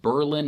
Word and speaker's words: Berlin: And yes, it's pronounced Berlin, not like the one in Germany.